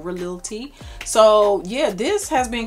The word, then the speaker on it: Khalil: I heard that the KH in Arabic is pronounced as a R, so it's like Khalil T.